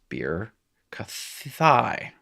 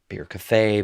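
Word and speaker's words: בִּרְכָתַי: And it's bir kathai. Bir kathay, bir kathai. I'd say thigh if I'm a thigh man myself. And that is writing in Hebrew.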